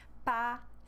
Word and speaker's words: patiemment: So E-M-M, we change the sound with the sound A. Femme, and then here we have patiemment.